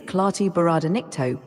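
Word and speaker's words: Klaatu barada nikto: it again the name certainly the phrase is clar bar ncto would you like me to spell it out again yes all right here it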